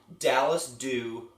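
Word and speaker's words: Dallas Dhu: So again, if you're playing at home, Dallas Dew or Austin Dew, and Dew is spelled DHU.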